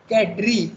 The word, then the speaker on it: cadre: also probably it means a framework okay it's pronounced cadre in english i'm just pointing out how illogical